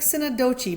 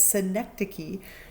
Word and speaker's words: synecdoche: So synecdoche, it looks like synecdoche, but don't say it. It's synecdoche, is basically a part of a whole.